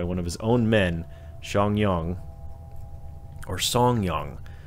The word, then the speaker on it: Zhang: of his own men xiang yang or song young i saw something that that said that that z-h-a-n-g is pronounced song song young an agent